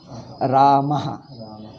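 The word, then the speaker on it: रामः: When Visarga follows A, you pronounce as Aha. Ramaha.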